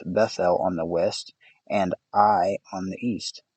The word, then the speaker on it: Ai: his tent with Bethel on the west, and Ai on the east. It's spelled AI, so I said sorry.